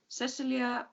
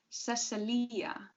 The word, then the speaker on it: Cecilia: She just thought it looked better on paper, but now people stressed the Cece. Cecilia. When she spelled it Cecilia, people pronounced it Cecilia. It flowed better then.